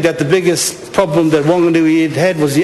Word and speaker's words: Whanganui: Speaker, put an H in it or not, I pronounce it still the same. Whanganui, H or no H.